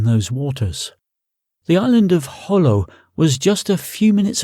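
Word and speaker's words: Jolo: He'd pronounced it Holo, as the locals did.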